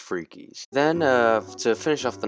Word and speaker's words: Fricky's: Found a restaurant called Fricky's, but it's actually, we did ask the lady, it is pronounced Freakies. You can't tell me otherwise, it's pronounced Freakies.